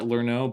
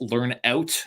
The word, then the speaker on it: Lernout: I believe earlier I pronounced it as Brett Lernout, but it's actually Brett Lernout, and he's from Winnipeg.